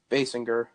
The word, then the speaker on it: Basinger: a kimba singer I don't know how you pronounce her last name Basinger yeah and Bernie Murphy rest in peace oh